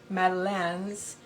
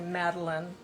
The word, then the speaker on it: Madeleine: The French pronunciation would be Madeleines, but we say Madeleine, just like a woman's name, Madeline, not Madeline, Madeleine.